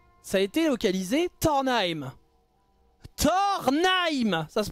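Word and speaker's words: Tornheim: Après, ça s'écrit pas pareil, mais ça se prononce comme Thor, le dieu, et Naim.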